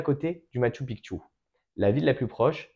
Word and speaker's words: Machu Picchu: que nous avons visité c'est le Machu pikchu il faut bien le prononcer de cette manière-l parce que c'est vraiment le terme quichoix alors le matchu pikchu